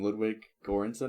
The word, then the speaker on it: Ludwig Göransson: Ludwig Göransson, I think is how it's pronounced.